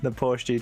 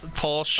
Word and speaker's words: Porsche: The Porsche GT4. No. What? Porsche. Oh, Porsche. Sorry. I did say it right, actually, on my other video, but I go back to my English ways.